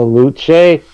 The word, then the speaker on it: Luce: On the Luce? It's spelled like loose but with a C, so I'm going to pronounce it like it's Latin.